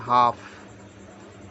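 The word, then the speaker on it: half: ए M palm यहां पर है आपका एल साइलेंट एल साले पल एम पाम हमने बोला एच ए एल एफ इसको हम बोलेंगे हाफ एच एल को बोलेंगे हाफ टी ए एल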